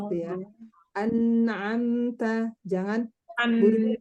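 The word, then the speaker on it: أَنْعَمْتَ: Umahat bacanya buru-buru anharun, anharun, harusnya anharun gitu ya. An'amta, jangan buru-buru. An'amta.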